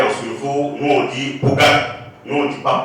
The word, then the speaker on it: Pongala: SFO, nous on dit Pogat, nous on dit pas Pongala, nous on dit Pogat. C'est quand on veut prononcer en en français qu'on parle de Pongala.